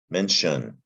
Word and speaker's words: mention: got the english word mention and it's the t i o and that's the trick here in english it's pronounced shun mention not t-i-o-n that looks like tion